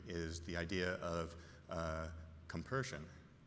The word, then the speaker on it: compersion: the idea of uh compersion. Am I saying it right? Yes.